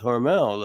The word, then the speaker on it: Hormel: Although most of us know it as Hormel, But it's as I Hormel. understand from everybody in Austin, the family pronounced it Hormel.